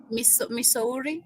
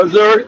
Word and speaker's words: Missouri: he's a Trump supporter from Misuri if I'm pronouncing Correct. Missouri. That's it.